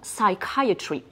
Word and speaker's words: psychiatry: vient du grec et ce mot-là on le prononce dans psychiatry alors vous allez le mettre dans votre petit